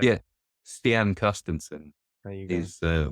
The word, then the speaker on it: Stian Carstensen: Stian Carstensen There you go.